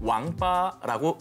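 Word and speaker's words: 王八: 중국에서는 거북이와 자라를 통칭해서 왕빠라고 읽습니다. 이것은 인간으로서 갖춰야 할 8가지 도리를 잇다라는 뜻의 망팔과 발음이 거의 흡사합니다.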